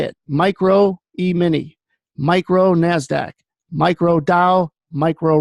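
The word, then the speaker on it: E-mini: emini and that's how you say it micro emini micro nasdaq micro Dow micro Russell may is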